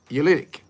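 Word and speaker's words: oolitic: opal this is ulitic It's o-o but it's pronounced you eulytic opal let's break that down take the opal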